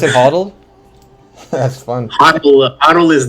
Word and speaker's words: HODL: those that hoddle that uh Creator Grant you pronounce it hoddle that's fun hle hdle is the word for